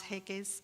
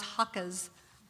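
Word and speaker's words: Haacke: this period is hans heike's and i never say his name right is that right thank you hans hakka's moma poll in the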